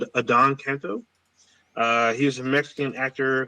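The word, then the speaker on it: Adan Canto: So I believe his name is pronounced Adon Canto.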